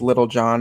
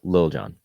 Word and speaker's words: Lil Jon: Past years, they have like Little John out there, and I'm like, okay, what are we doing? I'm pretty sure it's pronounced Lil Jon.